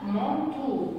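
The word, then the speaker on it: manteau: عندي بعد كده كلمة كادو كادو كادو يعني الهدية E A U نطقتهم O. الكلمة اللي بعديها مونتو اللي انا بدأت اخد بالي بقى حاجات اللي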